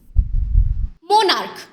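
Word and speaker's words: monarch: তোমাদেরকে একটি এক্সাম্পল বলছি মনার্ক এখানে দেখ এর উচ্চারণটি হচ্ছে ক এর মত মন তাহলে এখানে আমরা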